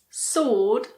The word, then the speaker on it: sword: There are also a few random words with a silent W. Some common ones are answer, sword, and two, the number 2.